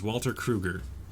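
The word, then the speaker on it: Krueger: I keep pronouncing it like it's supposed to be a German name. It is not a German name. It is Walter Kruger.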